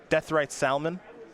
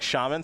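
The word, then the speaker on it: Deathrite Shaman: Deathrite Salmon. Deathrite Salmon? Salmon, yeah, because I say it like shaman, so I say salmon, which is just not right.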